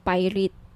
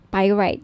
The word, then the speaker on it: pyrite: now if gusto niyo ng bracelet ito yyung pirate pyrite sorry pyrite yung iba pronunciation pirate pyrite okay 1,900 at may may